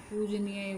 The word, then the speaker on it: पूजनीय: जैसे पूजनीय हो गया, इसमें बड़े ऊ की यानी ऊ पूजनीय बोला जाएगा, वो वाली मात्रा आएगी।